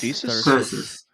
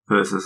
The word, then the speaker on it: Thyrsus: It's Thyrsus. Thyrsus. I've just checked with Google pronunciation.